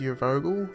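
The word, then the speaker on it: Urvogel: game being made by I think it's pronounced your Vogel games a bunch of their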